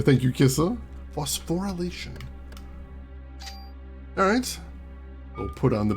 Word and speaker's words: phosphorylation: Ooh, yeah, I was missing a syllable in there. Thank you, Kissa. Phosphorylation.